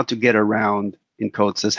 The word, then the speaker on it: CODESYS: for controller development system some people call it codices and some of us call it coats's the